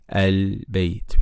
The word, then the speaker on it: al-bayt: so the first rule, if Hamzatul Wasl is followed by lam at the beginning of a word, then we pronounce it with fatha, like this word here, al-bayt.